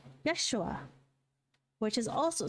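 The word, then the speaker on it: ישוע: And Joshua is the same word as Jesus, or pronounced in Hebrew, Yeshua, which is also 6 letters.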